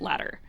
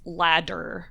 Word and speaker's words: ladder: I would say it is typical to use the tap in the word ladder and most of the time people only would pronounce ladder with a d in the middle if they were trying to be really clear about what that word was.